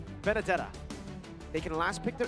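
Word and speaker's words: Benedetta: It rhymes with banana. Bandana. Banadetta. Ah, close, close, close. Benadetta.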